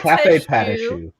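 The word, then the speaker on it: Café Patachou: It's Cafe Patashu.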